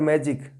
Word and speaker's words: magic: Magic, the word stress will come before ma, magic, and in this second word magician, the word stress will come just before g.